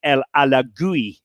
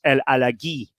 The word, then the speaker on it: El Alagui: And his name had always been pronounced Farid El Alagui, Alagui. Okay, but I had suspected this was wrong because he was French Moroccan. Right. And I'd suspected it was El Alagui.